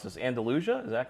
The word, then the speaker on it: Andalusia: So you're a big fan of, and you're gonna have to help me pronounce this, Andalusia.